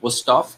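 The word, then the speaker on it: Wüsthof: How do you pronounce it? Ready? Wusthof and Schön.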